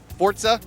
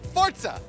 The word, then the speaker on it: Forza: sometime next year let me make sure I pronounce this right Forza Horizon 2 is that correct got it fortza got it no say it again fortza say it slower for okay now say it loud Forza yeah that's pretty good and then just again